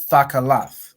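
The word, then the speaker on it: תכלת: Thakalath, right?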